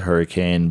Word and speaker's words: Hurricane: north of hurricane utah i know it's spelled hurricane but the pronunciation is hurricane it will put you